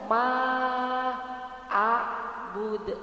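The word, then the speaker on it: مَا: Berarti selama ini kalau baca ma-nya ma kayak gitu, bukan ma, tapi ma-nya panjang. Ma abud, ma abud, jangan tergesa langsung ke alifnya ya. Jadi ma-nya yang panjang.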